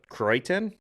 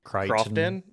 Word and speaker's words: Croydon: Croydon, I think. Crichton. Crofton. No, Croydon.